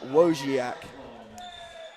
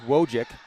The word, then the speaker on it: Wojciak: North Berry with the rebound is fouled by Denham Wojciak. Now, not to give you a hard time, I believe it's pronounced Wojcik.